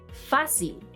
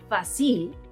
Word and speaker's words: fácil: For example: Fácil (easy) Lápiz (pencil) Árbol (tree) Notice that it is the second-to-last syllable the one being stressed; otherwise, the pronunciation would be facil, lapiz, arbol, neither of which exists in Spanish.